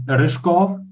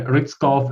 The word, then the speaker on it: Ryzhkov: one oh it's complicated it's rishkov in original language but some people just call me Rick's golf and like I'll live with that I'm actually sorry if